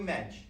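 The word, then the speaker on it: Moench: Oh, Mensch. M-O-E-N-C-H, the O is silent.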